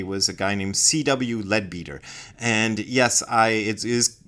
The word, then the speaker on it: Leadbeater: a guy named CW leadbeater and yes I it is pronounced leadbeater I I had for years thought it was pronounced lead better but in also in